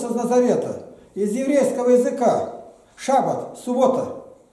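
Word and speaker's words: שבת: Суббота взята с еврейского слова, неправильно произносится, шаббат. Шаббат, суббота.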